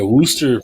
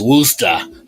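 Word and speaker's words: Worcester: 15 pounds uh yeah wooster best way to pronounce it for true central mass folks is wooster i can't remember if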